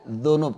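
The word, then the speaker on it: ذنوب: Ingat bacanya dengan kalimat jim ya. Junub. Bukan dengan zal. Dzunub. Kalau dzunub apa? Dosa. Kalau dengan zal, dzunub itu dosa. Tapi kalau dengan jim, junub, ya hadas besar junub. Makanya sebagian mereka di dalam baca Al-Quran harus bisa membedakan antara zal dengan jim.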